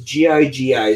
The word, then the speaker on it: Gigi: It says G-I-G-I, so I don't know how you pronounce that.